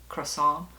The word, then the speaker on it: croissant: say it and it's supposed to be like croissant the tea is silent or even way C croissant not Croy like C so in any case I laughed